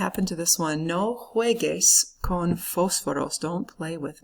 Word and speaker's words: juegues: It's not juegues, okay? The U, all it does is make that G into a hard G sound, like in the word hamburguesa. So, no juegues.